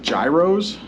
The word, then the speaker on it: gyros: That's how we pronounce it, gyros.